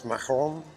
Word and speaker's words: macaron: If we got to say it like the French do, then it's macaron, macaron.